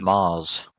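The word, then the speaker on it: Magrs: Chimes of midnight was written by pronounced Mars.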